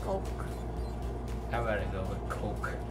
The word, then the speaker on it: Coke: I'd rather go with Coke. Don't pronounce it as cock, it's Coke.